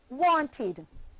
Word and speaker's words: wanted: For example, the verb want, want, becomes the past tense verb wanted, which is pronounced wanted, forming two syllables, want and id, wanted.